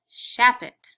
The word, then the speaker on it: Shapit: or my name is mrs shapit shapit has an accent on the sha if we turned it